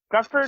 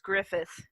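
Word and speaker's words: Gruffudd: Forever is it yeah Gruff bird or whatever yeah it actually is pronounced Griffith Griffith okay thank you yeah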